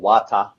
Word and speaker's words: Vata: Vata or Vata. It's spelt with a V, but it's pronounced with a W.